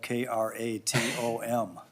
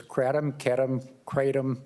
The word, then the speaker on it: kratom: How do you pronounce the word that is spelled K-R-A-T-O-M? Well, there's kratom. I pronounce it kratom. And when I went to Southeast Asia, they said kratom or kratom.